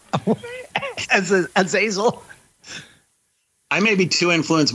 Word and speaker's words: Azazel: If I select the word and I go to pronounce, it says Azazel. Azazel. Yeah, so I would think that the emphasis would be on El, I would think.